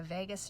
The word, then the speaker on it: vagus: It's so important because it actually triggers the vagus nerve, which I love this, I say this to people, it's like Las Vegas, but it's spelled differently.